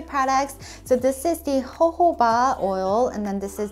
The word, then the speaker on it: jojoba: about these two products so this is the ho-ho ba oil and then this is the bio oil I remember when I first started youtube I pronounce this as jojoba and a lot of people were like commenting